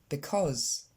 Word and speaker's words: because: L'accent tonique tombe sur la deuxième syllabe, cause, et le premier c'est pas un i comme vous avez tendance à le dire, because, mais c'est un e, because.